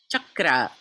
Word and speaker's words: chakra: Some of you might have seen my Facebook thread about the word chakra versus chakra. No such thing. Chakra.